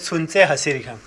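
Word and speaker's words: Sunse Hasir Khan: इसको कहते हैं, इसमें टी साइलेंट है ना मैम, इसको कहते हैं सुनसे हसीर खां। सुनसे बल्ती में सुमाल को कहते हैं, हसीर खां किचन को कहा जाता है। सुनसे हसीर खां सुमाल किचन, बल्ती लैंग्वेज में लिखा है।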